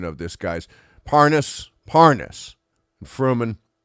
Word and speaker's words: Parnas: And then we have the Paramus. I think that's the right pronunciation of this guy's. Parnas, Fruman. Parnas.